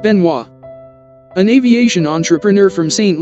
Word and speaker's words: Benoist: flying boat designed by thomas benoist pronounced benoit an aviation entrepreneur from